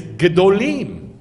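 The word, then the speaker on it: גדולים: Gadol. Do you see the kamatz at the beginning? But in Hebrew, it's gedolim. So this would be what? Gedolim.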